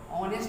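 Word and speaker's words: honest: तो इसको हम क्या बोलते हैं, ऑनेस्ट person, not हॉनेस्ट person. इसको हम हॉ नहीं बोलते हैं, इसको हम क्या बोलते हैं, ऑनेस्ट।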